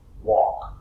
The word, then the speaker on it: walk: is silent. For example, For example, walk, walk, talk.